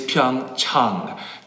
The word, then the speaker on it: Pyeongchang: The correct pronunciation is Pyeongchang. Chang, like when you go see your doctor, Pyeongchang, Pyeongchang, Pyeongchang.